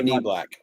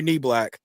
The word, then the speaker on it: Niblack: Amari Niblack. Amari Niblack.